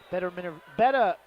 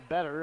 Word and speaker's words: Betta: Betta up off the bench. I always want to call her Better. I'm not spelled like better, but only with an A-E-R at the end.